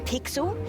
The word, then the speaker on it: Pixel: not weird guy I'm pixel it's easy to remember because it rhymes with pickle so it does I'm